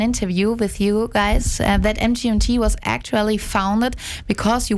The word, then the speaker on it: MGMT: or is it pronounced management MGMT yes that is the correct pronunciation yes because some people